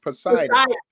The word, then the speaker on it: Poseidon: i standing right now oh poseidon that's how it's pronounced poseidon okay finally figure it